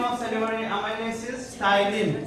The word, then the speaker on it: ptyalin: Another name of salivary amylase is ptyalin. P is silent. Ptyalin.